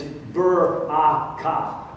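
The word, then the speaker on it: ברכה: 3 syllables. 3 syllables. It is baraka.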